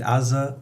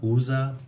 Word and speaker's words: Uzzah: story of Aza yeah pronounce it Aza usza whichever way that works for you I guess know doesn't bother me probably bothers some people you know but pronounce it whichever way you want to uh the ark